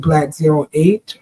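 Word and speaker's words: Blaque: Now black is spelled different. It's spelled b l a q u e. Black is my name. It's not the color even though it's pronounced the same way.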